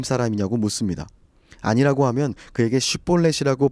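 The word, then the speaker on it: שִׁבֹּלֶת: 히브리어의 알파벳과 같은 알렙벳에서 영어 SH와 비슷하게 발음되는 쉰과 S처럼 발음되는 사맥이 있습니다. 에브라임 사람들은 이 쉰을 사맥으로 발음하는 습관 내지 특징이 있었습니다. 사투리 정도로 생각해보면 좋을 것 같아요. 그래서 쉿볼렛을 발음시켜보고 십볼렛이라고 발음하면 아, 너 에브라임 사람이구나 하고 죽였다는 거죠.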